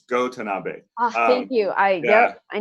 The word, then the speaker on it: Go Tanabe: I never slightly jump in and correct the pronunciation it's go Tanabe aha you I yeah I knew I got